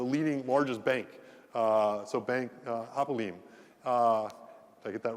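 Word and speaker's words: Hapoalim: So Bank Hapolaim, did I get that right, the pronunciation? Hapolaim.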